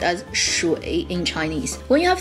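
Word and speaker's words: 水: Three, water, character.Water is pronounced as shui in Chinese.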